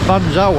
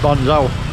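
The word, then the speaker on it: bánh xèo: Last time she did me Ban Gioc. I've been saying Ban Gioc. It's spelt Z-E-O at the end. But I've since been told it's Ban Gioc.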